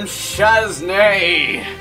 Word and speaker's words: Shaznay: And I am Shaznay. That's with a silent Z at the end.